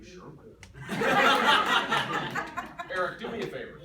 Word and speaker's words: Sherwin: Ryan, what's the first syllable of Sherwin? Sure. Sure. Yeah. Confidence. Kevin, what's the second syllable? Win.